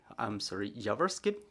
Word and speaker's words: Yavorskyy: And also joining us is Yavorskyy, lawyer, Yavorskyy, the stress is on the first syllable.